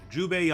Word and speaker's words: Jubei: a new pay was like the oldest character Jubei I keep saying his name wrong Yaya Yahoo Yahoo Zhu paid you pay Judi pay there it is Jubei ugh you he's a holder older samurai pretty